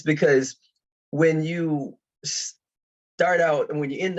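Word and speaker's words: Xxtar: letter X makes and it basically sounds a lot like an S so the company is called star Associates okay now the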